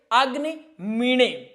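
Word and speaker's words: अग्निमीळे: जैसे अग्नि मीण। अग्नि मीठ नहीं होगा। कुछ लोग इसको मीठे पढ़ते हैं। लेकिन ये क्या होगा? अग्नि मीण। क्या होगा? अग्नि मीण पुरोहितम अग्नि मीण ए जहां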